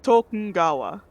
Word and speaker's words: Tokugawa: game i learned that apparently there is a silent n in tokugawa it's not it's tokengawa very hard to try and like spell out like phonetically but you hear a few of the characters pronounce it like that he came from